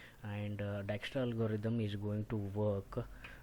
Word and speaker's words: Dijkstra: today's topic called as Dijkstra algorithm it is pronounced as Dijkstra because the extra is a Dutch word formed